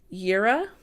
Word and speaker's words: Jera: well as destruction next we have Yara and this is je RA and it's actually the